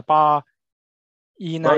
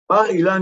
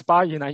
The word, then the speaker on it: Bar-Ilan: And so the first one will be Professor Doron AURBACH from the Bar Inan University. Did I pronounce correctly? Bar-Ilan University. Yes, Bar-Ilan University.